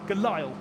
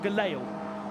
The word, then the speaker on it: Gelael: Nobody's ever said it right. So I'm today putting it to rights that he's called Shaun Gelael. I, not Shaun Galael.